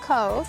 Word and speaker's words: Cobh: bit about your town and what you do Cove c o b h this okay you pronounce it Cove pronounced Cove okay it's the Irish actually um so it